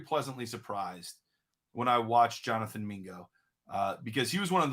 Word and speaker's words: Jonathan Mingo: It rhymes with bingo. Oh, Jonathan Mingo.